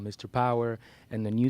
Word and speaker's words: Pauer: Yes, the word power is spelled Pauer, which is basically a description of my double nationality.